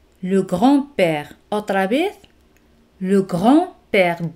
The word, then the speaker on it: grand-père: Le grand-père. D no se pronuncia.